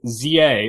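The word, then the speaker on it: Z-A: Pokemon Legends ZA or is that Zah? I've heard it both ways. You have to tell me. What's the official pronunciation? It's a Pokemon Legends Z through A.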